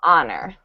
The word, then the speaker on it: honor: for yeah good and it is a Silent Age there so honor honor honor honor very